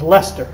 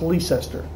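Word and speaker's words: Leicester: wista is lemp is lester which you probably pronounced lease esther well it's it's yeah it's like life sister it's lester yeah lester yeah it and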